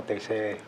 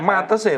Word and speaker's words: Matese: Kecamatannya Metese. Metese. Oh, anu ya, memang pengucapan metese gitu ya, Pak? Ya, Matese gitu. Tulisannya kan Matese Pak. Iya, iya. Tulisannya Matese, tapi kalau sana Kebiasaan. kebiasaan ngomong ya Metese.